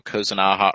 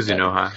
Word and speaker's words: Kuzunoha: Maybe another Raido, Kozunaha. Well, I can't even pronounce it. Kuzunoha, yeah.